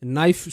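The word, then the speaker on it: knife: জানতে হবে যেমন রয়েছে নাইফ শব্দটা কে এন আই এফই নাইফ দেখো ভাই এখানে কে রয়েছে কে এর জন্য ক সাউন্ডের কোন কিচ্ছু নেই নাইফ ন সাউন্ড আসলো তাই না তো কে এখানে সাইলেন্ট এই বিষয়গুলো জানতে হবে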